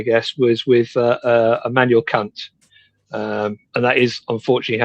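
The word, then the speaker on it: Kant: The classic one um where it all kind of started I guess was with uh Emanuel Kunt. Um and that is unfortunately how it's pronounced.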